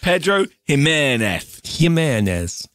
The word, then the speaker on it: Pedro Ximénez: How to pronounce... Jimenez. There, Pedro Jimenez.